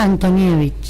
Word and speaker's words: Antonijevic: Se pronuncia Antonievich. Antonievich. Pero se escribe sin H.